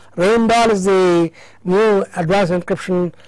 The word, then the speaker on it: Rijndael: So the actual word is R-A-J-J-N-D-A-E-L and pronounced Rein Dahl. Rein Dahl is the new advanced encryption standard algorithm, and